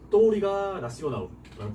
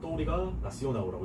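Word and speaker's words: Touriga Nacional: 뭐 포트가 아니면은 이 포트에도 쓰이는 여기 보면은 또우리가 나시오나우라는 품종이 있어요. 나시오날이라고 읽을 것 같지만 이게 역시 L이 끝에 붙으면 또 우라고 발음을 하는 경향이 있어서 포르투갈에 되게 우로 꺾이는 발음이 많아요.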